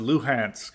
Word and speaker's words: Luhansk: There's also something weird with like Lugansk and how they pronounce it, because I think the Ukrainians pronounce it Luhansk or something like that.